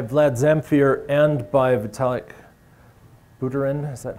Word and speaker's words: Buterin: So CASPER is used both by Vlad Zamfir and by Vitalik Buterin, is that how his name is pronounced, Buterin?